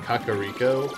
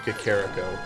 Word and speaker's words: Kakariko: that pronunciation like it took a longest time to say Kakariko instead of kakarrot go I used to take